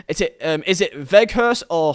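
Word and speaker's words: Weghorst: people say different names it's veg horse so without vehicle so in dutch they pronounce um like the w's as v's so imagine it as like a v vehicle so without vagus um do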